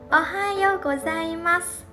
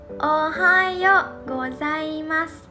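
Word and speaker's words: おはようございます: Ohayo gozaimasu. Ohayo gozaimasu.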